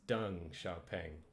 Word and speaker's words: Deng Xiaoping: This isn't Deng, it's Deng Xiaoping. X is a sh sound.